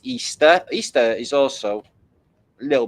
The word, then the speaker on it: Ishtar: Anyway, this is Ishtar pronounced Easter.